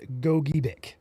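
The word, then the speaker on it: Gogebic: Half of the people say it's Gojubic. Other half say it's Goic. If there's ever confusion, we reference the state of Michigan guide for pronunciation and they say it is gobik.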